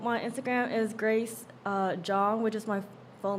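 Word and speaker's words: Zhong: Okay, so my Instagram is Grace uh Jong, which is my full name, but it's like my last name is spelled like Z H C N G.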